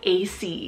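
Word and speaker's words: Acie: meaning God is my oath then I have AC it's spelled a-c-i-e-a-c a very cool but playful four-letter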